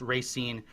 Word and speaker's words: Racine: And Jen just said that I did pronounce Racine correctly.